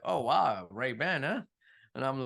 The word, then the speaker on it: Ray-Ban: Ray-Ban. Please, please. You're very committed on making sure people pronounce it correctly.